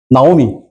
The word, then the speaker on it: 나오미: 히브리어가 되게 재밌어요. 왜냐하면 모음만 알면 발음 다 할 수 있어요. 이게 아 발음 나요. 아. 나오미.